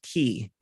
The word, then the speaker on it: Qix: the similar mechanics of a game called key it's an old and spelled qix so it sounds like key but it's spelled qix and it was a